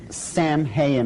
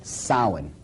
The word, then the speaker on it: Samhain: Now, when you look at the name, it looks as if it's saying Samhain or something like that. No. This is properly pronounced in the ancient Gaelic as Samhain.